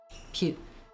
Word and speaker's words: Peugeot: The G in Peugeot is pronounced like the S in measure. Puge.